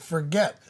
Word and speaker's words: Forget: Is it for they they say, "How do you spell it?" I said, "Forget."